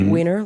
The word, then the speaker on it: Wiener Neustadt: And it is Wiener, like you spell it.